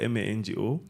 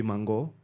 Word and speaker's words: Mango: It actually is Mango, Mango. Yeah.